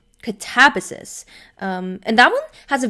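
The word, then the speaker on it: Katabasis: She was saying that apparently the way R.F. Kuang, like the author herself, pronounces it, apparently it's Catabasis, which feels unnatural to us. Like, I think, especially, we'd say the quote American or North American way, Catabasis.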